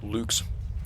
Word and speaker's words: Luchs: Lux can also do the Lux is very good or Luke's I guess is how you're supposed to pronounce that in German um is very good